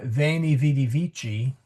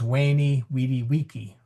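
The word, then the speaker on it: veni, vidi, vici: So classical Latin would pronounce uh vainy vidy vichi as wayy wediwaki.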